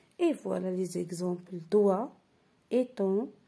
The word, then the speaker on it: doigt: Ensuite, la lettre G peut être muette dans certains mots. C'est-à-dire, elle ne se prononce pas. Et voilà les exemples. Doigt, éton, long, son, rond et point.